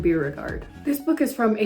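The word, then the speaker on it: Beauregard: And that book is Playground by Aaron Bogard. I said his name wrong. Playground by Aaron Beerard.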